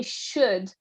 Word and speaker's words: should: Could you try and say should again? The S is more, because there is an S and an H, is more like a sh sound rather than an S sound.